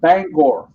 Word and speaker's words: Bangor: was your accent because every time I've heard somebody from Maine say that word it comes out Bangor because that's how they're supposed to be pronounced supposed to be pronounced